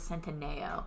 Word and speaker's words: Centineo: The end part, I know it's Centineo is how it's spelled, but I think that you pronounce it Centineo.